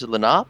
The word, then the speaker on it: Lenape: is kazimir fedorov he is culturally russian and lenape i believe is the pronunciation which we can get more into moore's